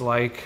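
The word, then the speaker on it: Laich: Yeah, Instagram across all socials at Brooks Like. Okay, but spell like some of them. My last name is pronounced like L-I-K-E, but spelled L-A-I-C-H.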